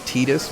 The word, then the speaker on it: Tidus: somebody's dead first time you heard it pronounced tidus was in kingdom hearts you assumed it was titus before that too it's because titus sounds good sometimes you just have to choose what sounds good and you know what sounds not good if anything rhymes with fetus it ain't gonna sound good just like cletus i'm sorry